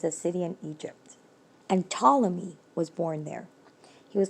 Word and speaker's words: Ptolemy: um said no ptolemy remember that ptolemy starts with a p a silent p no ptolemy earth is not the